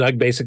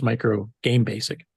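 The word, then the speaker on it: µG Basic: So I pronounced it UG Basic this whole time too, and I'll have to correct that in my brain that it's Micro Game Basic.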